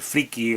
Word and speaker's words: friki: aquí friki de hecho la manera en la que yo lo escribo que es tal y como se pronuncia friki con y no existe como palabra porque viene de la palabra inglesa freak que se escribe freak que entre otros significados